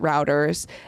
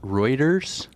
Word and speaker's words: Reuters: a former executive at routers and wymer was the CCO was a public spin guy is that the pronunciation Ro Reuters Reuters not router routers Reuters R anyway wymer was a